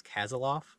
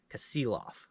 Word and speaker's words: Kasilof: the whole video we referred to it as calof because we were just looking at how it was spelled and we have been corrected and it is most definitely pronounced casila we're taking a pause on our